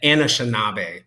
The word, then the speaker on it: Anishinaabe: But it's the Anishinaabe people.